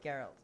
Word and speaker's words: Geralt: days big promises buddy it's geralt okay it's like GIF not Jiff and I was about